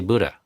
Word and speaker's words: Buddha: a hard time pronouncing Buddha properly. I say Buddha, which is how an American would say it. But if you want to say it the poly way, it's Buddha.